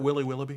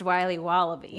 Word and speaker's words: Wiley Wallaby: Can I have a piece of that Willy Willoughby? Wally Wibbly. Wiley's Wallabies. Wallaby Wallies? Wilby Wobbaby? It's pronounced Wiley Wallaby. Well, it's very good. It's called Wiley Wallaby, and it's delicious.